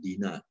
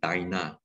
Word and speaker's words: Dinah: he wants to marry dinah okay some people pronounce as dinah or dina so simeon and levi